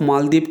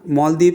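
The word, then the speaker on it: Malé: और याद रखना मालदीव से रिलेटेड जो है MO, इसके स्पेलिंग दे रखी है मैंने यहाँ पे। ये प्रेसिडेंट है मालदीव के और इसकी कैपिटल जो है माले, MALE माले है।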